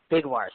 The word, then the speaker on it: Bigwarfe: It's actually Alexa Haddock, like the fish, Bigwarfe. So let's spell that.